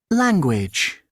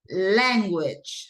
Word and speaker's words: language: Language. Language. So where do you think is the stress syllable? Len. Yes, language, right? It's no language, it's language. Correct.